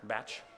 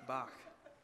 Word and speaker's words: Bach: from the Baroque Era batch it's pronounced Bach it's Bach really yeah are you